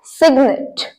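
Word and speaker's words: cygnet: बच्चे को बोलते हैं सिग्नेट सिग्नेट सिग्नेट नहीं बोलना चाहे यहां पर एनटी को हम नेट बोलते हैं लेकिन इसे सिग्नेट बोलना है ऑलराइट नेक्स्ट है कल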